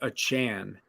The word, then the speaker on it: Achane: to Devon I believe he's told everyone his last name is pronounced a Chan yes um who had